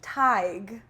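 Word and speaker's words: Tadhg: Tadig Taj. This is tig.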